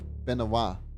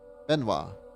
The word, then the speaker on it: Benoit: Benoit is the French version of Benedict, pronounced something like Benoit, emphasis on the second syllable. Benoit.